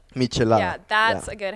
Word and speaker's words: michelada: Mich, like Mich. Michelada.